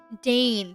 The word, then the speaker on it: deign: Dane, that's how you pronounce it. I waited for him to deign reply to my greeting as courtesy demanded, but the silence between us was deafening.